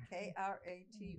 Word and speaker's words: kratom: K-R-A-T-O-M. Pronounced Kratom.